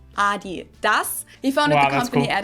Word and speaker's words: Adidas: were referring to, because they usually pronounce it Adidas, and in Germany we say Adidas. Adidas, Adidas. Super different.